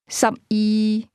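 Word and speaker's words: 十二: A some e some e 12 is pronounced with a lowle tone.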